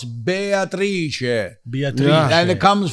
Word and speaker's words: Beatrice: Beatrice is different when you say Italian. Oh, so it's not Beatrice. It's No, it's Beatrice.